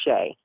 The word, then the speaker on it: Shea: Is that how you pronounce it? It's Shea.